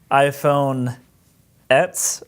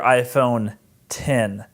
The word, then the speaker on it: iPhone X: and then I work is the iPhone 10 pronounced iPhone apps or iPhone 10 this is a question that baffle is a